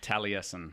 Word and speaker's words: Taliesin: Taliesin.